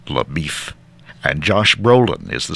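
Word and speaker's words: LaBoeuf: Damon portrays Texas Ranger laau which he pronounces Le beef and Josh Brolin is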